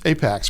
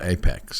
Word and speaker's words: APX: is it Apex or apx it's Apex platform is how they pronounce it yes okay and I've seen it in writing is the letter a letter P and x correct and that's still Apex right that's correct well